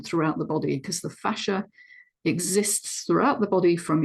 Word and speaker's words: fascia: Now, fascinating fascia, or fascia, some people pronounce it, is such a complex connective tissue structure in the body.